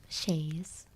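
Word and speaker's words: chaise: It does say sh h a yz is the way to pronounce it. So, I'm guessing I'm doing it right. Shayes.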